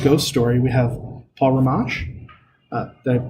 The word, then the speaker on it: Rimmasch: If you're a Coast to Coast fan or Mysterious Universe or just love a good ghost story, we have Paul Rimmasch. Did I pronounce your name right?